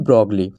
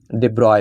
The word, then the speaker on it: de Broglie: तो ब्रोगली हिंदी में हम लोग पढ़ते हैं लेकिन इनका नाम डिब्रॉय पढ़ा जाए। जो एक्चुअल प्रोनाउंसिएशन है वह डिब्रॉय है।